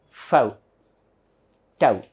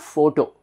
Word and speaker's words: photo: So this is Fau, Tau. So this becomes Fau, Tau, Fau, Tau, Fau, Tau. So this is not photo.